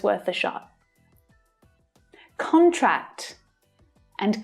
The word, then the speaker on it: contract: the pub probably but it's worth a shot contract and contract contract contract they signed the contract yesterday the